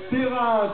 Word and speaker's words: Peyrins: Le nom de Perrin, alors il y a un S à la fin mais il ne se prononce pas, P-E-Y-R-I-N-S.